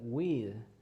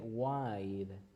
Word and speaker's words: wide: pronunciation because, for example, you said weed, but when you say weed is marijuana or mota. So if you say weed is something Sorry. different. So you need to say wide. Wide. Wild. Yes, wide es como ancho, Okay. de ancho, de amplio, wide.